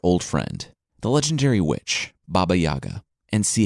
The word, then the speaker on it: Baba Yaga: Kashi as I wasn't really saying correctly and Baba Yaga who's actually pronounced Baba Yaga which from now on I'll say that but